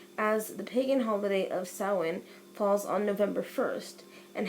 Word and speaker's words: Samhain: Oh though it looks as if it is pronounced Samhain and this actually pronounced saawan and the term dates bats the ancient Celts